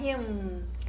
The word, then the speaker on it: him: Mas para aproximar ainda mais da pronúncia dos nativos e de quem canta, o ideal seria fechar a boca, né? Pronunciar him, him, tá certo?